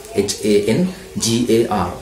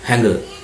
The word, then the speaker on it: hangar: Number 19, hangar, H-A-N-G-A-R, H-A-N-G-A-R, hangar. We pronounce it hangar, H-A-N-G-A-R, we don't pronounce it hangar. The correct pronunciation is hangar.